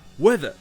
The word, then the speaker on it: whether: Et dernière question, qu'est-ce que weather? Déjà, ça s'écrit comme ça, W-H-E-T-H-E-R, et ça se prononce weather, comme le temps, le climat.